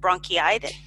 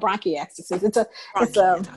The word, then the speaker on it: bronchiectasis: When I looked at the word, how do you pronounce it? Bronchitis? It's called bronchiectasis.